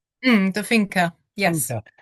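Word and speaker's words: Finca: Um now I saw you have one called Now I don't know is the pronunciation the finker? The fina.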